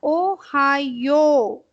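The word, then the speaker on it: おはよう: Now, Ohayo. This you have to prolong.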